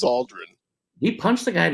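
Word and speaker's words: Aldrin: died recently but uh is it Aldren or Aldridge I said I said it wrong twice yikes the astronaut is Buzz Aldren he punched the guy in the face one time Buzz Aldridge is LAM Marcus's less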